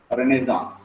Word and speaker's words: Renaissance: Okay, so Renaissance, the pronunciation. Okay, Renaissance. Okay, call whatever you want, but the pronunciation which approximates to closest to the correct pronunciation is Renaissance.